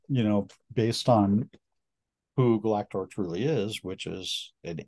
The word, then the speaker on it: Galactor: known as galactor am I saying it correctly galactor yeah yeah all right Galactica perfect um another